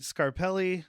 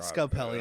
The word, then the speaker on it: Scarelli: and then we meet scarelli not scapelli I said it wrong no we said scapelli because of Mario Brothers it is that's why I said scapelli too cuz I can't remember anything it is scarelli but I don't think